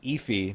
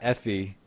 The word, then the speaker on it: Efi: So it's Efi, not Effie.